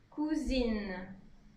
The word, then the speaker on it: cousine: Donc attention à la prononciation en général hein, pour cousin masculin ou masculin pluriel et cousine pour féminin ou féminin pluriel. Cousin, cousine.